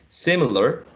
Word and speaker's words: similar: Similar, only 3 syllables, right?